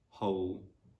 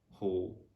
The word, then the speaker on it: whole: yeah also normally that's letter w is silent if it is followed by h and o so for example in the words who whoever whole whole in this kind of